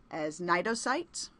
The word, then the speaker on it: Cnidocytes: The stinging cells we talked about that are used for prey capture actually known as Cnidocytes "cyte" = cell to